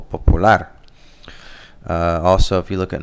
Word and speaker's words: popular: In English, it's popular, so the stress is on the first syllable, whereas in Spanish, it's the last syllable, popular.